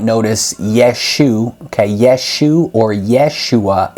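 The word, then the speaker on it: ישוע: yeshu okay yeshu or Yeshua is how Jesus's name is pronounced in Hebrew so that is referring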